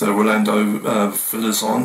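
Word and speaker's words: Rolando Villazón: You had the pop star to opera star as well with Rolando Villazon, I think it's the right pronunciation.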